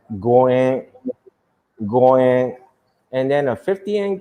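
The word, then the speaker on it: 五円: And then the reason why most people may throw a 50 yen coin or 5 yen coin because 5 yen is pronounced as goen, and then a 50 yen coin is pronounced as gojuan.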